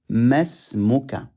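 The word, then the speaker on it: ما اسمك: We don't read the alif. We join meme to the sin in reading. We say masmuka.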